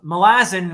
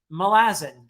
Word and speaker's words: Malazan: you remember that uh my pronunciation of malazin which I in my older videos anyone can hear me say uh Malazan which is a common enough pronunciation and I apologize and I realized that it's like Rome is Roman milaz the island where it all got started melasin right that's just the the adject adjective form of malaz right melazzin